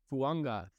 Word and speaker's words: Fuaga: So my number two guy is Talise Fuanga, and I have learned this pronunciation, and it looks like it's Fuaga, but his last name's actually Fuanga, which is different.